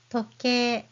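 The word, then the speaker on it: とけい: Toke. Toke means watch. And toke, you hear the E sound at the end, but you still use hiragana I to transcribe it.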